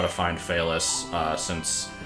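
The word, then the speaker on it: Phelous: know how to find fais uh since the spelling of the name is not obvious from the way it's pronounced is p h e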